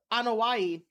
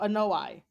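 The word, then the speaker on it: Anoaʻi: the uh they pronounce it as uh uh anaii but oh yeah they pronounce it as that instead of an noai um yeah so the anaii and Fatu family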